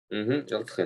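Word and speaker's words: ἐλθέ: Элтхэ, да. У него неправильный императив. У него окончание, есть ударение на последний слог. Элтхэ.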